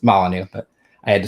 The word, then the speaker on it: Molyneux: It's Molyneux, but I had to spell it the way it was spelled, or say it the way it was spelled.